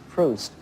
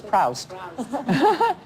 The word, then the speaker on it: Proust: for a class and i heard somebody ahead of me say proust and i thought oh my god it's pronounced proust i thought it was proust and then i thought